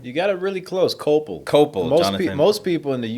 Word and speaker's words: Koeppel: got it really close copel cop most people in the US they can't get even close really yeah it's it's like German so I'm actually have